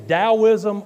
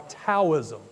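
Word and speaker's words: Taoism: either name Works uh there is debate about which name actually is the official name dosm is the Western pronunciation and that is allowed because they say that we westerners cannot properly pronounce the name in Chinese as it as it should be the original taism name so you'll hear me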